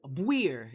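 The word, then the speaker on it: buir: a term of endearment today's word however is weir it's spelled b-u-i-r and basically it just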